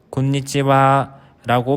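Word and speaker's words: こんにちは: 인사입니다 오후 12시 이후 해가 질 때까지의 인사말로 곤니찌와라고 발음하여 보통 오후 5시까지 사용하는 인사말입니다 뜻을 일본어로 직역하면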